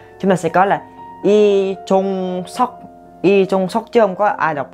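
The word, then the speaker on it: 이종석: Chúng ta sẽ có là Y Chung Sok chứ không có ai đọc là Ly Chung Sok đâu nha.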